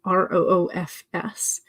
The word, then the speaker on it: roofs: as you type, and I spell it the normal modern way, R-O-O-F-S, but I think I pronounce it more of the V instead of an F. So if I'm talking about like a hailstorm moved through and damaged multiple roofs, I think I say it more with a V than like roofs.